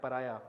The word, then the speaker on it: pariah: But spelling में ए वाई ए नहीं लिखता, वो लिखता है पर आया, PARIAH.